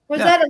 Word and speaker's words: Rosetta: Rosetta Rosetta just rosett Rosetta like the Rosetta Stone yeah although I hate